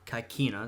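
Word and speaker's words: Caecina: here are these Romans under kaisina or kaikina that's the correct pronunciation well they managed to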